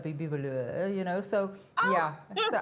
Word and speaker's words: Vahlour: And he had to practice with me a few times to actually pronounce it correctly, Vahlour, Bibi Vahlour, you know.